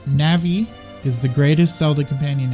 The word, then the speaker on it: Navi: I almost want to continue saying Navi because there's something hilarious about watching assumably full-grown people melt down in the comments section over my pronunciation of a fictional word. But alas, I will pronounce it Navi.